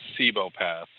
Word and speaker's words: Cibopath: who has the ability to, or basically a Cibopath. Want to explain to the people what a Cibopath is, if you can actually get it out without turning into a blender again? So essentially, Cibopath, as I've been informed is how you say